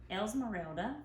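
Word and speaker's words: Esmeralda: is um melissa says recently the else morale else morelda yes that's how you say it um was released in the u.s i was wondering if you're gonna make more characters esmerelda was released well the figurine okay in the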